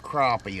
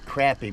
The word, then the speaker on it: crappie: two catfish crappy crappy they're not crappy as people call them they're pronounced crappy because CR a p py that's crappy not C A py that would be crappy or crappie or c o py so you'll learn how to say it as crappy speckle perch